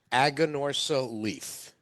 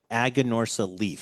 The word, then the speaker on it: Aganorsa Leaf: that again because I couldn't know how to pronounce this say it one more it's aganorsa leaf aganorsa leaf and the name of the that's actually an